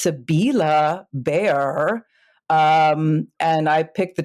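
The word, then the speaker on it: Sibylle Baier: It's pronounced Sabila Bear.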